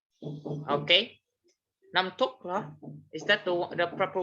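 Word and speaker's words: น้ำตก: Namtok, huh? Is that the proper way to pronounce it? Namtok.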